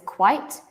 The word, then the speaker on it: quite: what about this one look carefully at the spelling right this one is quite this one is quiet quiet quiet has two quiet